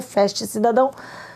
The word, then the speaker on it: Fast: de baixar o aplicativo escreve-se forte f a ST Fast cidadão se pronuncia feche cidadão e você baixar esse